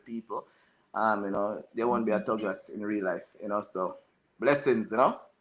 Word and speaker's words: Tuggras: I spell it with a Jamaican pronunciation as well, because we don't say Thug. with a TH. You We know, say tug. it's Yeah. a tug. You know, so Tuggras.